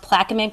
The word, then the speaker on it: Plaquemines: So the case is Chevron versus, I believe it's pronounced Plaquemines Parish, and this is a parish in Louisiana.